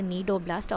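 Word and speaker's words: cnidoblast: are stinging cells called need Oblast so in the see node of blast in particular Dada the C is silent so you have to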